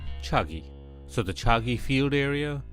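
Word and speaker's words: Chagai: is deposit is in the place called chaga hills or as a locals pronounce a chuggy so the chalky field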